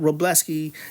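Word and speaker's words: Wrobleski: But Robleski, you say that without the W because the Astros don't because the Astros didn't let the Dodgers have any W's.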